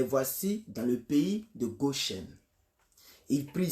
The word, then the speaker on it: Goshen: Bon, vous pouvez dire Goshen, mais la vraie prononciation c'est Goshen.